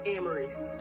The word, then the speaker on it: Amaris: And if you ain't know how to say my name, is Amaris.